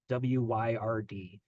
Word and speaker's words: Wyrd: And it's a play on words because the Wyrd is taken from a Norse word called meaning fate or destiny, and we're pronouncing it like the word that means strange.